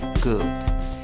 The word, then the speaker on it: good: La escritura lleva doble O, la pronunciación lleva una U. No es una U muy larga, así es que pronuncias la palabra good, good.